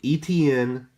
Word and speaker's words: Etienne: See, I learned how to pronounce his name after watching the Jacksonville Chiefs game last week. So Etienne, for now, is my second running back.